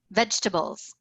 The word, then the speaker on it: vegetables: Vegetables. I say it in 3 syllables.